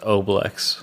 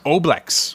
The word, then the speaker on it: oblex: It is actually pronounced oblex. Oblex.